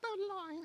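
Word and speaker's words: bowline: It's not boline. Not boline. It's a bolin.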